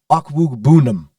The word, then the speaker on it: Okwuegbunam: Before we move on to the Raiders, could you please pronounce the last name of Denver's starting tight end? Ooh, yes. Okay. Albert Okwuegbunam.